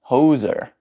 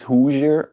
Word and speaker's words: Hoosier: It's not pronounced Hoser. It's Hoosier.